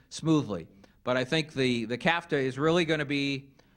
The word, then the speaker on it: CAFTA: The CAFTA may be unfortunate that it rhymes with NAFTA.